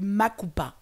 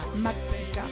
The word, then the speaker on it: Mapouka: On va parler du Makupa. Makupa. Voilà. Mapuka. Mapuka. Mapuka. Mapuka. Mapuka. Mapouka, qui s'écrit M-A-P-O-U-K-A.